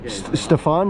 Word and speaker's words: Stefan: Stefan, did I pronounce it right? Yeah, that's correct.